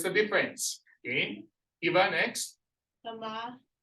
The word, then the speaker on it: tama: Tama. Correct. Okay, you say tama. The Tama. stress is on the first syllable.